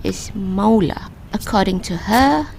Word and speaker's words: Måla: the correct pronunciation is Måla. According to her, any A that has a little O on top is pronounced as O, so Måla.